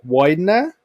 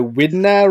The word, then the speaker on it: Wydner: no problem just to confirm is am I pronouncing your name correctly Ransom Widener perfect yeah the the first name people get